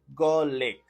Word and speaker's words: garlic: number one GC gck this is a two syllable word with the stress on the first syllable and the I is pronounced short you say and you pronounce garlic okay garlic Li if